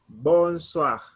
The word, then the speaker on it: bonsoir: say bonsoir or i we will pronounce it like wa so it will be